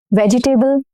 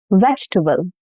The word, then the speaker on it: vegetable: This word. Vegetable? No. Vegetable. Vegetable.